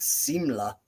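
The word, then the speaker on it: symbel: uh difference there and I would pronounce it Simla or seamless because it's uh spelled quite different than the modern version of symbol um I just wanted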